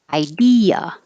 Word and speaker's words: idea: go in separate syllables so you hear each of them idea i should make that capital so that you remember that d e is stressed idea but in the word